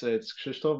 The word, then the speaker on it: Krzysztof: So as you mentioned, my name is Polish. It's a little bit difficult to pronounce. It's Krzysztof, but it's all good.